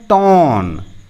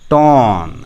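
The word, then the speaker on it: torn: है इसको बोलते हैं टोन यह आर का उच्चारण नहीं होता है इसको कैसे बोलेंगे टो सॉरी यह चांद नहीं होगा सिर्फ ऐसे आधा चांद होगा यह वाला नहीं होना है तो टोन ऐसे टोन हो जाना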